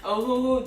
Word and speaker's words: Ohuhu: And then this brand, Ohuhu, that's how you pronounce it. Ohuhu.